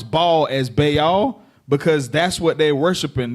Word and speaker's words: Baal: That's why we made such a heavy topic to pronounce Baal as Baal, because that's what they're worshiping.